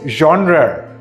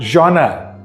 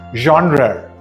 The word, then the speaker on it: genre: disease so it's pizza not pizza this is genre not genre again this word is pronounced genre this word is pronounced just like the stuff